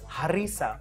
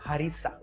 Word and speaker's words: harissa: notice and here carefully I am pronouncing it harissa from the epiglottis and not harissa like how most would mispronounce it it is harissa a little bit of